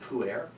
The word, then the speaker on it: pu'er: I was like, so like, It's not spelled P-O-O-A-I-R. I have a teenage son. I know exactly what pu'er is.